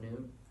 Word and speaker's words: Nut: And Nut, or also, I've heard that's pronounced new, is romantic.